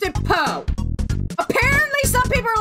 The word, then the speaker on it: Poo: I have pronounced it po apparently some people are like pronounce it poo I'm like no I pronounce it po I mean look at the little thing on top of his head it's Po and now we get